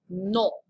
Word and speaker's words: non: It's not no like we would say it in English. It's non. Hon, hon, hon. Get that French nasal sound going with your pronunciation.